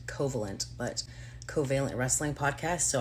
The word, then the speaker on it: Covalent: called co I want I'm gonna say this right hopefully covealent fingers crossed that's how you say it because I think I would normally pronounce it coalent but coalent wrestling podcast.